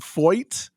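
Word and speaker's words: Feucht: name is pronounced and his last name is pronounced foit so it's John that's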